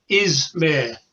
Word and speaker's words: Ismay: Ismay with a Z or Z, as you would say.